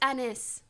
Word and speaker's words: Anys: It's pronounced anise.